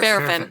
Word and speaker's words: Barafin: is like, imagine you're Barfin or Barafin. Barafin. Yep. How do you say it? Barafin. Like the wax. But voiced. Barfin.